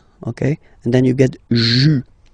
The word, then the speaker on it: juin: Okay, and then here, well, it's a bit tricky, but still, IN goes like un, okay, and then you get juin, juin. Okay, let's see them one more time. Janvier, février, mars, avril, mai, juin.